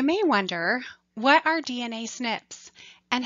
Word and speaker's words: SNP: wonder what are dna snips and how do they help us find our ancestors the acronym snp stands for single nucleotide polymorphism and we pronounce this as snip when talking about dna